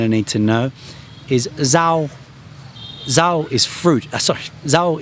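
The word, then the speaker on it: rau: that you're going to need to know is zho.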